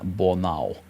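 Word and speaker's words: Bornauw: Sebastian Boral as he pronounced his name for us in the uh preseason um pronunciations videos.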